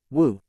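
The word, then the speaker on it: 舞: Martial arts is pronounced in Chinese as wushu, and dance is also pronounced as wu.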